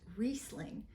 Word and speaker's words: Riesling: hi I'm from Corps and screw caps reasing pronounced reing is a superb quality white grape and indigenous